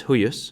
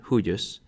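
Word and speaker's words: huius: Hawk for the nominative the genitive is huus for all three genders and that's a two- syllable word huus and the dative is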